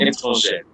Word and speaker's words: étrangère: So it will be j'apprends une langue étrangère. Okay, that means I am Sir, learning. pronunciation kindly, please. You wait, In j'apprends George. une langue étrangère. Étrangère. Étrangère. No. Étrangère. Langue étrangère. The ends are nasal, okay?